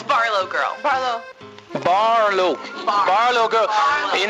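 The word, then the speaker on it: BarlowGirl: first we start off uh Barlow can you pronounce it for me please it's Barlow girl bar Lou Barlow girl you know lots of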